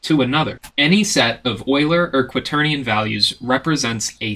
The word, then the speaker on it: Euler: to know is that Euler is actually not pronounced Euler it does not rhyme with Bueller Bueller instead it's pronounced Euler and it rhymes with spoiler Oiler and quaternions are